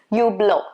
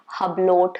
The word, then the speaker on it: Hublot: list next one is you blow it's not supposed to be hublot it's not supposed to be hublot t is silent and h is also supposed to be silent supposed to be you